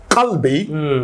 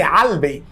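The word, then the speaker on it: قلبي: speak a dialectical, like qalbi, that's MAMSA. Okay. But in some parts of the Arab country, they say albi. Or rather, some say ghalbi.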